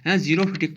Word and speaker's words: xerophytic: Natural visitation Jammu Kashmir के natural visitation की क्या है कि उसको ज़ीरोफिटिक XEROPHYTIC, एक्स साइलेंट है, XEROPHYTIC, ज़ीरोफिटिक पढ़ना बच्चों।